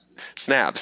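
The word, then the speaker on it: Snabes: Well, it rhymes with crabs. Snaps.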